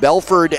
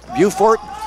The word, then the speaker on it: Beaufort: the junior forward 6-3 out of Belford South Carolina beaut Buford Beaufort yeah Beaufort South Carolina excuse me yeah Beaufort I don't know if